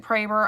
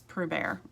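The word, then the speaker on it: Proeber: schrader or whatever anyway so he pronounces it praber i pronounce it praber just you know to make him happy but it's pro bear so p r o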